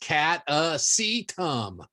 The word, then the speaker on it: Catasetum: how is it pronounced well it's not one of those hard ones to say it's just cat a sea tum easy enough kata from the